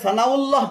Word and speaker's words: সানাউল্লাহ: তবে সানাউল্লাহ ঠিক আছে, কেননা সানাউন শব্দের শেষে হামজা রয়েছে, হামজা লাম পেশুল হবে। সানাউল্লাহ এটা ঠিক আছে।